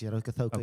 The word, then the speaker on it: Rokocoko: Did I pronounce it right? Yes, Rokocoko.